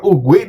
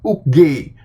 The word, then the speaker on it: Oogway: Lo kalau ngomong Master Ugwe di channelnya itu, lo tuh salah. Lo kalau perhatiin tuh sebenarnya dibacanya Master Uge.